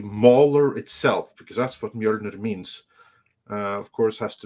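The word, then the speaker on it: Mjölnir: How do you pronounce it? Mjolnir.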